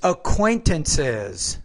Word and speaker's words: acquaintances: It's acquaintances. So the ES creates an additional syllable.